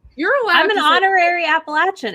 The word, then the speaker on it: Appalachian: address like i don't understand you know that's appalachian thank you for saying it correctly i live